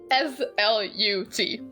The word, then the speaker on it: slut: where it just says SLUT. It's pronounced slut, so like that's not as bad as the English version.